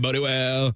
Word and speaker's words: Bodie Wells: I'm Bodie Wells.